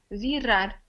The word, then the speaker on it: virar: Yeah, it's also one R, so it's R, virar, virar.